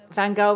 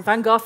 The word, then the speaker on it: Van Gogh: The Van Gogh Museum, I'll pronounce it in the Dutch way, but Van Gogh is fine, Van Gogh is fine, Van Gogh is fine.